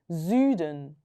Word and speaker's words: Süden: S 다음에 모음 나왔으니까 z로 바뀌는 거예요. Süden.